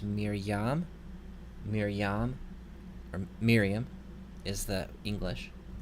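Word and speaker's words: מִרְיָם: f rahim f ryu here we have another silent schwa so it doesn't make any sound this word is pronounced Miriam Miriam Miriam is the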